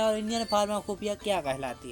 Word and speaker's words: Pharmacopoeia: अच्छा, यहाँ पे आप लोग ध्यान से देखिए, तो इसका जो प्रोनाउंसिएशन है वो तो होना चाहिए था फार्माकोपोइया, लेकिन प्रोनाउंसिएशन इसका होता क्या है, फार्माकोपिया, ठीक है। तो आप लोग इस चीज को ध्यान रखिएगा कि इसको जो है हमारा पोइया होता है, इसको हम लोग पिया पढ़ते हैं, ओके।